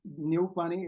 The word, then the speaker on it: Neupane: But in English, Neupane is exactly how you pronounce it.